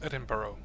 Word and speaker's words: Edinburgh: iess Edinburgh it's not pronounced Edinburg it's actually pronounced eduro Glasco Glasco uh we have Scotland here Scotland